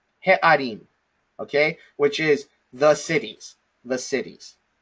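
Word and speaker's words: הֶעָרִים: And the way that we pronounce this, or the way that we read this, is he'arim, he'arim, okay?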